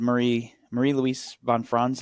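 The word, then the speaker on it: Marie-Louise von Franz: And you mentioned Marie Louise von Franz, how you say it, correct?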